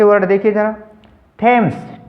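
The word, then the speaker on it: Thames: से शुरू होता है, तो टी एच का उच्चारण टे करेंगे, न हमने वहाँ पर दे करना न थे करना।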